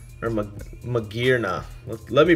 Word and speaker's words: Magearna: Magearnia, or Magearna. Let me pronounce it correctly.